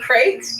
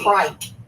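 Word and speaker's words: craic: The crate? I think this is Irish. It is. So my friend Kieran, water? Friend Kieran's going to get real mad that I'm pronouncing this. Is that like the correctly. creek? Like a water? Nope, the crate. Kite. It's C-R-A-I-C. Crike.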